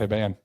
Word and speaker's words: Hiban: Hiban. Hiban! Did I pronounce that? Is it pronounced correctly, Hiban? No, it's Hiban.